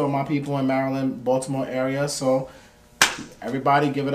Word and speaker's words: Baltimore: Yeah, next is Baltimore, yeah. No, it's Baltimore. Baltimore? Yeah. Okay, there we go. You can't pronounce the T.